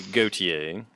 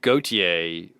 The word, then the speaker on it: Gotye: Walter, and the name Gotye was a nickname given to him by his mother, which is based on the French equivalent, which looks like Gauthier, but it's probably actually pronounced closer to Gotye.